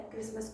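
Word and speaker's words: chorus: Christmas song होता है, Christmas का गीत होता है एक प्रकार का। कोरस, इसे चौरस ना पढ़ के कोरस पढ़ेंगे, ग्रुप सॉन्ग होता है, ग्रुप ऑफ सॉन्ग, समूह गान।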